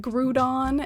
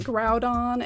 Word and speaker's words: Groudon: really weird um i grew up saying like grudon and kyogre and then i found out later it's pronounced like groudon and kyogre and it's just all been a